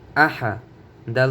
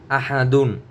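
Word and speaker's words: أحد: হামজা জবর আ, হা জবর হা, আহা, আহা, আহা। দাল 2 পেশ দুন, আহাদুন, আহাদুন। এখানে যদি আপনি অফ করেন তাহলে উচ্চারণ হবে আহাদ।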